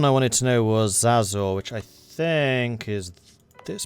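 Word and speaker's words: Xazor: And then the other one I wanted to know was Zazor, which I think is this province? No, it's Denmark. How do you spell it?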